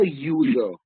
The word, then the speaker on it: user: There are many singular nouns, even though the spelling starts with a vowel, but when you sound it, it has a consonant sound.